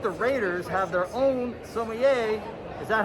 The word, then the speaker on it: sommelier: you know that the raiders have their own sommelier is that how you pronounce it it's pronounced sommelier and what that means it's a wine expert